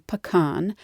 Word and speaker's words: pacane: algonkian language family and all had a word something like pakan it referred to hard shelled nuts in general there were various pronunciations but the French explorers settled on pan and this is where